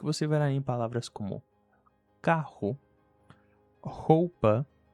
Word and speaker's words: carro: Então, a palavra que antes tinham dois Rs e se pronunciava carro, agora com um R só. E como ela fica entre a letra A e O, ela vira caro.